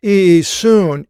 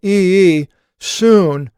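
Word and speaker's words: Ἰησοῦς: his name was osya son of so it's pronounced e soon e soon it's not the jaw so the Greek is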